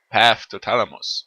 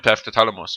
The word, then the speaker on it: Path to Thalamus: noch ein Doppelpunkt dazwischen es ist mein Doppelpunkt path toalamos und nicht mein PA toalamus oder e mein path Talamos oder whatever und wieso schwebt So und die wegt sich auch noch.